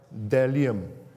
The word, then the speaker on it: bdellium: It's like coriander seed, and its appearance is like bdellium. Okay, the B is silent, I checked.